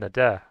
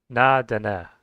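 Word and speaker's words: Na-Dene: But the three language groups are Eskalut, Amerid, and Nade, or let me pronounce that correctly. Na Dene. I think I got it.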